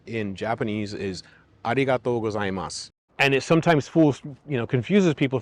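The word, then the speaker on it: ありがとうございます: a, o, u, o, a, I, a, u. Repeat that a couple of times and then try to say it again. Arigatou gozaimasu. See how much better my pronunciation got just in the time I practiced that one time. You should be aware that each syllable needs to be pronounced separately. When I started studying Japanese,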